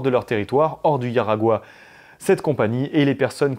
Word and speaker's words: Jaragua: Ils les ont exportés sur un territoire qui s'appelle Aragua, enfin ça s'écrit Jaragua, mais ça se prononce Yaragua, et ils ont totalement